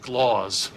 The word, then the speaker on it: Claus: For the last time, it's pronounced Skloz. That's my middle name. He's Dutch.